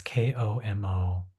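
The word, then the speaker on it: 木漏れ日: It's spelled como rebe. I think it's pronounced como lebe, um, but it's Komorebi.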